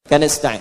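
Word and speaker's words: نستعين: Iyaka na'budu wa iyaka nastain. Nastain ujungnya sukun. Kalau dimatikan dibaca ujungnya pasti mati.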